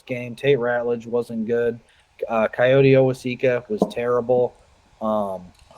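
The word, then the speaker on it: Kayode: He is uh the Coyote or Coyote.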